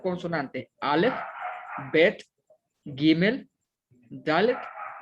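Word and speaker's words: דלת: Y al principio pues está una dalet y una kamatz que forma la sílaba da. Luego está una lamet y una segol que forma la sílaba le. Y ya al final está una tab que tiene el sonido consonántico de T. Entonces dice da, le, dalet.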